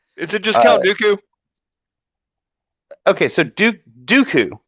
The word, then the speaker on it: Dooku: Is it just Count Dooku? Okay, so Dooku, right? That's his name, Dooku. Yes. Yeah, that's his name. Yeah, he calls him Doku.